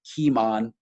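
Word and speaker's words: Cimon: much time on him his name is keemon it's spelled uh c-i-m-o-n in in greek and actually in latin roman latin the sea is often a hard sea rather than a soft sounding one so it's kimon is his name and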